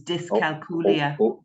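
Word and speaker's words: dyscalculia: l i a so think dyslexia this is dis culia yes I I get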